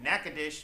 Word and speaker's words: Natchitoches: We now visit all the way down to Natchitoches, Louisiana. It is spelled Natchitoches for those people that don't know how to talk.